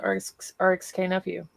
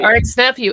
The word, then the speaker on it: RXK Nephew: I'm gonna um message rxk nephew I'm sorry RX nephew and I you know the K is silent and I keep saying rxk and I'm a dummy